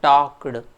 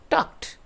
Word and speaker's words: talked: It is not talked. D is not to be there. It is pronounced as a t at the end, that is talked, walked, like that. So the correct pronunciation is talked.